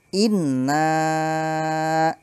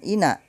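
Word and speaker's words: إنّا: poinner kalkausar penjelasannya adalah lafal Inna ditekan karena bertasydid ingat Inna bukan enak tapi inep Adapun panjang suaranya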